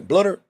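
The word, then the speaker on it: Bluder: you that coach BL tell you that BL blutter that's how you say her name Lisa I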